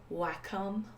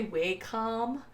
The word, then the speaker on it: Wacom: into pronunciation right now I know that it is Wacom Wacom Wacom and I say we come and that I'm wrong I don't care it's